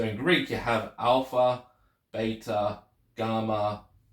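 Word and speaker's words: βῆτα: English so you got Vita and beta so beta the letter B is or beta is pronounced with the letter B rather than a v in uh erasmian pronunciation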